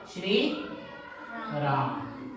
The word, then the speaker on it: श्री: ऐसे ऐसे बच्चे कई बार लिख देते हैं क्योंकि उनको ध्वनि सुनाई दे रही कि स भी है और र भी है, जबकि लिखा कैसे जाएगा? श्री राम।